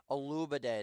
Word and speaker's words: Olubade: Olubade is how you say it.